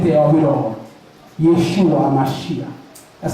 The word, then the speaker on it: Yeshua Hamashiach: that you need the C of it all Yeshua hamashiach that's how you say his name and HEB